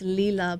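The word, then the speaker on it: Lalah: vibrate higher and i always pronounce her her name wrong but it's lila but it's vibrate higher and it's just like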